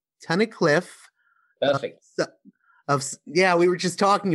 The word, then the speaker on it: Tunnicliffe: Tunnicliffe. Perfect. We were just talking about if I would pronounce it right.